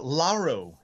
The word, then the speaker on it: Lauro: say your last name uh laro is how you say it um yeah okay it's